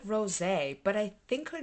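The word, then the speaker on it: Rosé: If you know the proper way, I've always said rose because it has the little thing over the E. It looks like Rose, but I think her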